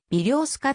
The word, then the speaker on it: ベリョースカ: としているロシア語の標準的な発音は微量スカとなるロシア語税は